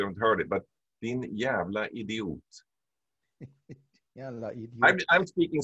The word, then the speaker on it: jävla: Jävla idiot. Jävla idiot. Yeah, so it's spelled old spelling, you would have a DJ, but din jävla idiot.